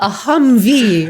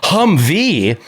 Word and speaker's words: Humvee: like i have a humvee right yeah that's right you put the accentuation on the last syllable googling it trying to